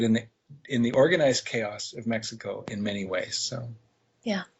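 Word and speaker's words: México: Other thing about Mexico, which, by the way, it's actually pronounced Mexico. In Spanish language, the X is pronounced like an H.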